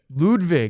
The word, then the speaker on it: Ludwig: by the way I said lwg lwig L ludvig my mic was muted again lvg yes we've had all sorts of mispronunciations what do you mean do you mean